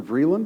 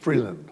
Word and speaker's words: Freeland: I may not pronounce her name right, but she's the shadow Foreign Minister, Vreeland, I think her name is something like that. BS: Yeah. CB: Is that her name? BS: Freeland.